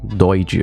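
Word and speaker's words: Doidge: Quem falava sobre isso também era o Norman Joyd, né, Doid a pronúncia.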